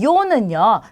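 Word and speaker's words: yo: 자, 그 다음에 요는요. 자, 나를 뜻하는 단어예요. 그래서 스페인어에서 나라는 주어를 가리킬 때 요라고 합니다. 자, 마찬가지로 이오인데 빠르게 하게 되면 요가 되는 거죠.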